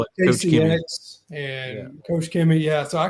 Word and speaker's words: Koch-Chemie: Koch-Chemie. Yeah, the slightest bit of pronunciation.